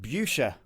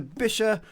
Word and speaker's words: Buescher: It says Buescher Aristocrat 200, but for many years, probably like you out there, I was pronouncing it Buescher because of the U in the spelling, but it's not.